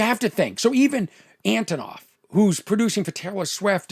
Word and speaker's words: Antonoff: Is it Jack Aronoff, producer? Antonoff. You wonder why I have no career. I can't even pronounce the name of the guy, one of the most successful producers. Antonoff.